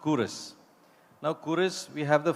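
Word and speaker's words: Quros: spelled q u r o s but it's pronounced curre now kurus we have the founder coming up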